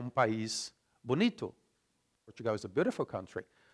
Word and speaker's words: bonito: Whereas in Brazilian Portuguese, Portugal é país bonito. The O becomes U, okay? We write bonito, but we pronounce bonito.